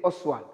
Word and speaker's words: Ostwald: Yes, when you pronounce it, Ostwald, kaka, you say Oswald. It's an Oswald process, but when you write it, your T, Oswald process.